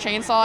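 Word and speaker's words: Khainsaw: My cosplay name's Chainsaw with a K instead of a C at the beginning. Like a K-H? No, yeah, but it's still pronounced Chainsaw.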